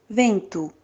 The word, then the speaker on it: vento: Your vento sounds perfect, okay? Just pay attention in the N and the V, okay? Vento, vento.